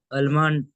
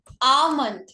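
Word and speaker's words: almond: अलमंड। अच्छा, आमंड। ये exactly होता है आमंड।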